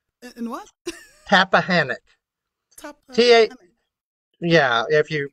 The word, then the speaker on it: Tappahannock: I was out in the country, but the closest town was, and the school system was in Tappahannock. In what? Tappahannock. Tappahannock. Yeah, if you pronounce it the way it's really originally, I guess it's Tappahannock, but okay.